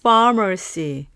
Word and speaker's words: pharmacy: 약국은 영어로 farmercy ph가 f 발음이기 때문에요. 윈니로 아래 입술을 살짝 물듯이 하시면서 farmercy입니다.